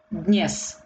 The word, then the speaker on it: Dnes: Dnes. D sounds very lightly because it's also very difficult to pronounce. Dnes. Dnes. So very, very short d. Dnes. It sounds, but very, very lightly.